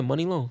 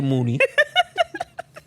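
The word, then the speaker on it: Muni Long: her name is yeah money long it's spelled m-u-n-i money long get it money long what do you think it was what'd you think i had to say mooney jesus christ yo that's not how money is y'all really yeah that's not how money is spelled it's a play on words honestly this is why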